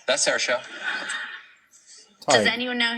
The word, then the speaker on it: Saoirse: Like I'll even say this, like even Saoirse Ronan or Help me out with Saoirse.